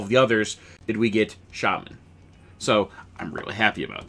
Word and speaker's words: Shaman: want to pronounce it its shaman let's be clear here it's shaman not Shaymin but pronounce it how